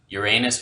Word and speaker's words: Uranus: If nothing else, that should tell you something about how to pronounce the planet's name, even if that does end up sounding like another way of saying your bum.